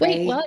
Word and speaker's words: Rai: can find me at Ray. My first name is spelled kind of weird. It's r ai cornell like the university.